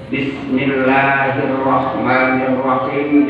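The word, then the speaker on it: بسم الله الرحمن الرحيم: Bismillahirrahmanirrahim. Bismillah itu pakai sin kecil. Jangan bismillah. Bismillahirrahmanirrahim. Kalau dibacanya sin kecil diganti sin besar dengan se. Bismillahirrahmanirrahim.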